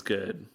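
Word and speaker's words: Goode: about cops bad lesbians good but let people love who they want to love and it's actually the cop and down called something something good like his last name's good but it's spelled g-o-o-d-e yeah but he's actually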